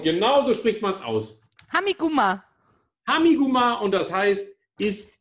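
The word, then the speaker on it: Tha mi gu math: Und genauso spricht man es aus. Hamiguma.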